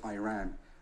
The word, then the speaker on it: Iran: the Iranian people but you're pronouncing our country's name wrong our country is named Iran not Iran please once and for all